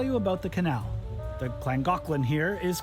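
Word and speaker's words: Llangollen: so this is The langin Canal at least that's how I read it but I learned the Welsh pronounced the double L's as CLA so it's actually pronounced the clangin canal all right this part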